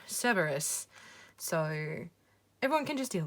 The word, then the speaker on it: Cerberus: uh cerberus md card i am not saying it with a hard c because it makes me sound like i'm saying care bears and i'm not talking about care bears i'm talking about cerberus so everyone can just